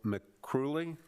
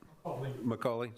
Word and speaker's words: McCauley: And next, and I'm sorry if I mispronounce this, Michael McCrooley or McCauley? McCauley, sorry, I couldn't tell if it was an R or an A.